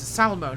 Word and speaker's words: Salmo: drops us down towards salmon not Salerno salemo I've been pronouncing like Salerno in Italy Salmo which is just on the Canadian side of the Border here kicking around